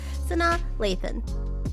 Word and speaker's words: Sanaa Lathan: Sanaa Lathan.